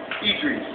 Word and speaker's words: Idris: How do you say it? I call myself Idris, like my grandma says it.